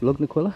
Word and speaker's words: Lugnaquilla: Lugnaquilla, that's how you say it.